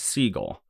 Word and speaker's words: Seagal: was Jewish and that his family pronounces their last name normally as Siegel Segal had told Strickland